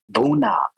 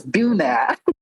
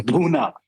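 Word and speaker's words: bhuna: so funny listening to Nathan saya because that syllable duna does not exist in the English language. It is actually chicken buuna. But the way Nathan says it is bua. It's a buuna. It's buna.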